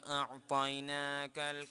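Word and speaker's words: أعطينا: ইন্না ইন্না আ'তাইনা আতাইনা কাল আ'তাইনা, একটু টান আছে।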